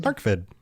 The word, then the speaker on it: Arkved: Is that how you pronounce Arkved? Arkved.